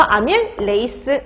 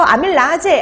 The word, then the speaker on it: 아밀레이스: 자 그래서 아밀 레이스 이렇게 보시면 돼요. 자 그래서 아밀라제 아밀레이스 다 같은 말입니다. 근데 이게 독일식으로 발음하느냐 영어식으로 발음하느냐 그 차이만 있는 거예요.